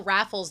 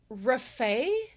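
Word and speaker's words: Rafał: The correct way to spell it is, they have Rafal, but the L looks like a special character that looks like a little almost italic T or an uppercase L with like a little T line through it, which is pronounced the way as in W, as in wait.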